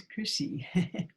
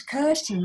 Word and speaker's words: Kirsten: It's Chrissy. How am I pronouncing your name? It's actually Kirsty. It's Kirsten, that's right.